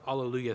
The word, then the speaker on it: alleluia: gonna jump to the alleluia section please on page five page five this is the one okay um i want the accent on the second syllable now alleluia from this particular piece